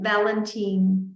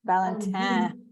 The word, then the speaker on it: Valentin: to say it aristide Valentin is that right I think you're if you're saying it the French way you have to get that last syllable through the nose eh Valentine okay anyway oh good